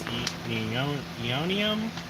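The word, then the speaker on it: Aeonium: And these are, I think it's Eonium. It starts with an A, but the A is silent. But their common name is called a black rose.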